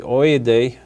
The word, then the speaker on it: Odeh: And I'm not saying Odeh correctly, Oyedeh, but he'll excuse me.